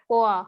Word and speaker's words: poire: पोआ, Poa. देखो please, जो हार्ड है, जैसे जिसका अलग प्रोनाउंसिएशन है, like POIRE is pronounced in a different way, तो इसको लिख लो हिंदी में या बंगाली में, पोआ।